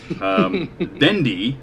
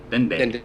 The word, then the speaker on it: Dende: Dendi, is that how you say it? Dendi? Dende.